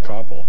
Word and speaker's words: Koppel: Koppel. Sorry, I pronounced it wrong.